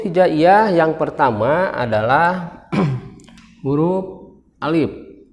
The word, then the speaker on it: alif: yang pertama adalah huruf alif ini dibacanya Alif bukan A tapi Alif ya Ini bukan a.the tapi